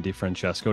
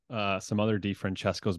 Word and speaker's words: DiFrancesco: The good Italian pronunciation. No, I know some other DiFrancescos, but they say DiFrancesco. Yeah, it is. Well, the C in Italian is ch.